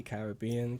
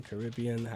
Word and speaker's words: Caribbean: it wrong uh no you can see Caribbean Caribbean okay so it's like tomato tomato thing right okay okay go